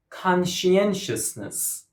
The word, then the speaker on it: conscientiousness: Conscientiousness. Conscientiousness. Can you count the syllables? It's a little bit challenging. Conscientiousness. 5 syllables, and the stress goes on the 3rd syllable.